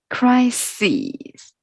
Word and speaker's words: crises: in this way flora okay so the pronunciation is a bit different yeah just take from the crisis crisis so we learned yes in the detail is the crisis and this one is crises crises here it is